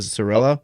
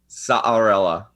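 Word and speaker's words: Saarela: Is it Sorella? Alexi Saarella.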